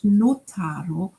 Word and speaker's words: notaro: In these lines, you may have already noticed that notaro rhymes with caro, a word with two meanings in Italian.